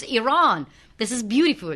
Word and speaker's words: Iran: I always ask people, because I've been to Iran and I've been to 130 countries.